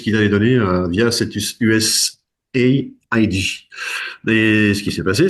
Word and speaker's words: USAID: Alors certains prononcent USAID. Normalement, je crois que c'est USA, comme USA, hein, les États-Unis d'Amérique, ID comme International Development.